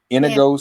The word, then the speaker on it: St. Inigoes: Am I pronouncing that correct, Melly? Inigoes, St.